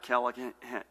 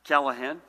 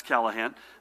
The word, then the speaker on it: Callahan: Edie Lipschitz Judy and Ed as always to my far left State Police Superintendent Colonel Pat Callaghan Pat Callahan Murphy should be able to pronounce Callahan again needs no introduction and a real treat